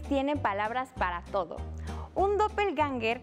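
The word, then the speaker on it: Doppelgänger: palabras para todo un doppel ganger que se pronuncia como dople genga es un doble maligno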